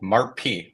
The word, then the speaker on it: MARP: orthodontic lab, they have a product called MARP, that's how it's pronounced.